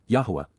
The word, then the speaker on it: Yahowah: over whom he scoffs C imp perfect Yahweh yahwah the proper pronunciation of the name of eloah God as